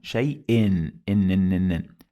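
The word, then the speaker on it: شيءٍ: This is because we have here hamza, and under it you find 2 kasras. Let's do it again. If I'm gonna say it like this, let's remove all the diacritics. So I'm gonna say shay. Okay, let's add 1 kasra. It became shay'i. 2 kasras, shay'in. It added the sound of nun.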